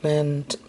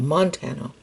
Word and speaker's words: Montano: First time I saw this was on a video by Mark Mantano, or Mantano. I hope I'm saying that. No, Montano. Yeah, I think that's how you say it.